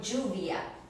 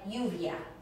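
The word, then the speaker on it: lluvia: instance in the word juvia juvia meaning rain sounds like a j or in the word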